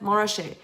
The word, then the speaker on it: Montrachet: it the French way, you just get rid of both T's and you pronounce it Montrachet.